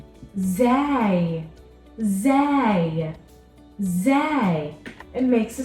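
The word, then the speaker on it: زاي: this letter is called Zai Zay Zay it makes a sound Za z z in this letter is similar to the sound of the letter z in English now for the next set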